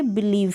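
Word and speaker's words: believe: यहाँ पर लास्ट में जो ये ई आ रहा है इसको आप प्रोनाउंस नहीं करेंगे, यानी जो वी है वो तक एंड हो जाएगा, इसका प्रोनाउंसिएशन कंप्लीट हो जाएगा। बिलीव।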